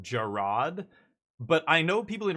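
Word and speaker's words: Gerrard: ago when uh I guess his name is pronounced Gerard, but I know people in real life called Jared and their name is exactly the same spelling. And so I called him Jared and my buddy's like his name is Gerard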